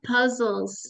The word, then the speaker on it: puzzle: base you got it how many syllables puzzle two puzzle awesome which one stressed puzzle the first one again that one this